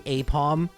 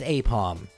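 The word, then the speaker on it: Aipom: I was on the fence about this one, but after putting its Japanese characters into Google Translate, Apom is pronounced basically apom in Japanese, but spelled very weirdly.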